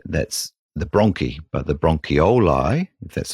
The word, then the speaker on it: bronchioli: lung whereas the that's the Brony but the bronchioli that's how I say it properly are the